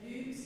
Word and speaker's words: lux: domine, the et lux, it's a much rounder U sound in the French Latin. So et lux, you can think about it as a U with an umlaut, or L-E-W-K-S, if that helps you as well.